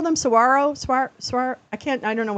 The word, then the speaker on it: Saguaro: Saguaro.